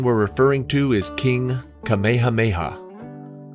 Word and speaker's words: Kamehameha: The king we're referring to is King Kamehameha. The Dragon Ball Z attack is pronounced more like Kamehameha.